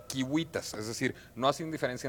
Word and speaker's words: civitas: como K, es decir, cuando nosotros hemos escrito Civitas, ciudad en latín, claro, lo más probable es que los romanos lo hayan pronunciado Kiwitas, es decir, no hacían